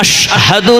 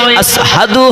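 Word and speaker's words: أشهد: যেহেতু তার ওইখানে মোটা বড় শিন হয় না, আশহাদু না হয়ে আসহাদু হয়, কারণ মোটা আছে। হুজুর গো, আপনার নাম উচ্চারণ করতে গিয়ে আসহাদু বলে ফেলেছেন, আশহাদু বলতে পারেন না, এই জন্য তার আযান দিতে হবে না।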